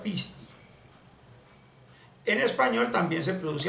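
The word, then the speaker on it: πίστη: grafos tiene otra grafía en griego se dice pisti se pronuncia pisti en español también se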